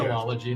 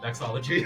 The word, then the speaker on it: vexillology: There's an extra syllable in there. It's Gotcha. vexillology, not vexology.